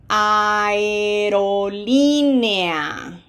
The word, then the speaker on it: aerolínea: Aerolínea. Blended. Aerolínea.